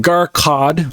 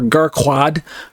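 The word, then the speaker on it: Gharqad: it once again it's I believe it's um garcod or gar quad I I don't think it's I think it's garcod but I'll look it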